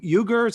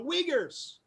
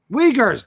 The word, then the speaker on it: Uyghurs: recent restrictions on trade with china re you ugers i don't know how to pronounce it and additions to the entities list the uyghurs uyghurs thank you i've heard of that yeah i